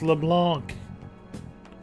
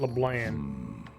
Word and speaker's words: LeBlanc: They keep mispronouncing it. It's LeBlanc. Or LeBlanc. Not LeBlanc.